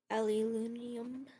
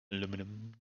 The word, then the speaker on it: aluminium: That mumbling sounded like you tried to say aluminium. Aluminium. Yeah. Aluminum.